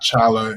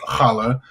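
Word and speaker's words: challah: Jewish community other than hala bread that I just got done uh learning how to pronounce. It's not chala, it's halala.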